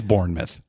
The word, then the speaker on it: Bournemouth: born identity all right it's Bournemouth all right it's Bournemouth even but it's spelled mouth I know even Americans should say Bournemouth okay all right so